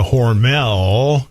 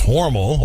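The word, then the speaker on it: Hormel: outside of aus Minnesota horel as we all mispronounce it it's horal over to horal Y um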